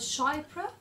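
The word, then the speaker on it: chypre: this perfume belongs to I think it's called shy which is c h y p r e um yes so and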